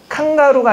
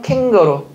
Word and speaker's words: 캥거루: 칸가루가 아니라 캥거루.